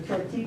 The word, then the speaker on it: Ch'orti': of our project is the turkey project and you notice i'm not pronouncing the short t because they don't either so don't worry about